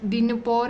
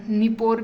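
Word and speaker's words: Dnieper: अब देखो यहाँ पे डोनेट्स यहाँ पे है, ये डिनपोर है, डी निपोर भी कह सकते हो इसको, या निपोर भी कह सकते हो, डी साइलेंट रखा तो कोई बात नहीं, या डी निपोर कहो तो सही रहेगा।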